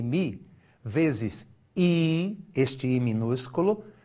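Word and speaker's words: μ: igual traço de fração tá vendo mi é uma letra grega pronuncia-se mi vezes I este I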